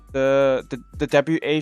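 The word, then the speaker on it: は: You guys think shouldn't it be wa with the WA? Shouldn't it be the current hiragana character? No. In the past, ha was pronounced as wa.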